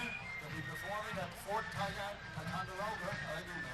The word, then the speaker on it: Ticonderoga: All of a sudden I knew what they were meant, but Didn't look like Ticonderoga.